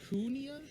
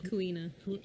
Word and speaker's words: Kuina: His motivation to do so is because his rival, Kunia? Is that how you say her name? Kuina.